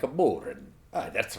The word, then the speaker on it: bodhrán: It's weird to say that because you really have to say it like you're Irish to make it sound like a Bodhrán, like a Bodhrán.